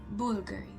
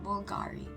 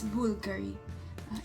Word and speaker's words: Bulgari: have to say it Bulgari. Like you're saying it na, like alam mo yung, like boo, like Halloween, not Bulgari. It's Bulgari. Char. So yeah, that's how you say it, Bulgari.